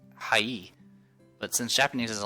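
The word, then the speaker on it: はい: word high actually pronounced as high is actually pronounced high E but since Japanese is a language spoken at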